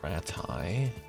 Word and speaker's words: Rattay: Because I think that's one of the main flowers that grows around the training ring right outside of Rattay. Or Rattay, as people keep pronouncing it lately in game.